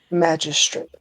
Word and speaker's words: magistrate: You're pronouncing G like gun, not G like Jack.